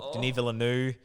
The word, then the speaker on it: Denis Villeneuve: Denis Villeneuve. Denis Villeneuve. That's how you say it.